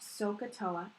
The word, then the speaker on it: SOHCAHTOA: want to talk about this particular title it's pronounced sohcahtoa and what it is is it's your lifeline